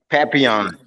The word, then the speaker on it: Papillion: Papillion.